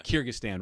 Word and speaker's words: Kyrgyzstan: around the world but the the am i pronouncing this right here's the Kiersey kazakhstan kyrgyzstan yeah kyrgyzstan right and i know exactly where it is